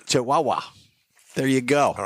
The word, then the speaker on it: Chihuahua: You're mispronouncing. It's the Chihuahua. It's the Yeah, Chihuahua. It's Chihuahua.